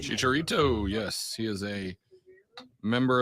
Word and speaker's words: Chicharito: is that Chicharito did I say all right Chicharito yes she is a member of the national